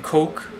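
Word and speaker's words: Koch: For those of you who want to see it, just go to Google and type in Coke Bloomberg. Coke is spelled K-O-C-H.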